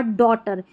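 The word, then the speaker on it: daughter: तो देखिए सबसे पहले अक्सर साइलेंट कब रहता है, जैसे नाइट, लाइट, राइट, हाई और डॉटर, इन सारी स्पेलिंग्स में जो हमारा GH है ना वो साइलेंट है। याद कर ले इन सारे स्पेलिंग्स को। तो यहाँ पर क्या है, हमारा GH साइलेंट, हम GH को नहीं पढ़ रहे हैं।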